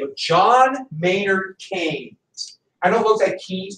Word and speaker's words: Keynes: an economist by the name of John Maynard Keynes I know both had keys but he's English so it's pronounced chains like if you go to the I just